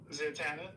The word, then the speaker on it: Zatanna: How do you pronounce it? Zatanna.